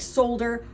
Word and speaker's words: solder: It's spelled kind of funny, S-O-L-D-E-R or something like that. So it looks like solder, but it is solder.